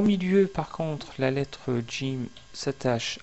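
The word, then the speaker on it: ج: Nous arrivons maintenant à la prononciation de la lettre Jim.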